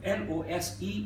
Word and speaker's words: lose: seat take a seat l o s e is lose with a z sound l o o s